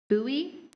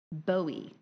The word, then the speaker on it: bowie: Are there any alternate pronunciations? There are. Buoy. Bowie.